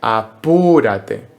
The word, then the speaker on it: apúrate: En español, la palabra apúrate tiene una tilde en la U y la sílaba fuerte es apúrate. Pero ¿qué pasa? Que a veces en la música y en las canciones las sílabas fuertes se cambian y se ponen en otro lugar. En esta canción concreto no dice apúrate, dice apurate, como si fuese un argentino.